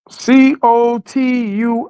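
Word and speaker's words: Cotuí: How you spell it? So okay, I got it. Hold up. COTUI.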